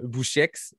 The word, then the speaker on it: Boucheix: Je reçois Casquette Verte ou Alexandre Bouchex. Comment tu prononces ton nom de famille? Ah ben, tu l'as très bien prononcé. On bien prononcé. Ouais, on prononce merci. le X. Voilà, le X.